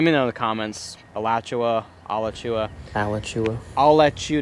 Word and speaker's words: Alachua: the whole drive here I was trying to pronounce it because I thought it was Alachua, but the correct way, at least according to research and Google, was Alachua.